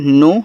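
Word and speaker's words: knee: के एन O double नो नो का मतलब जानना। के एन डबल ई इसको पढ़ते हैं नी। देखो के के बाद एन दिया रहे तो के आपका साइलेंट होता है।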